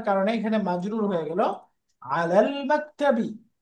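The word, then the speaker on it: عَلَى المَكْتَبِ: আলাল মাকতাবি, আলাল মাকতাবি। তো এটা যেহেতু হরুফুন কাবারিয়া, মুন লেটার, এই জন্য লামটা, আলের লামটা উচ্চারণ হচ্ছে, তাই না?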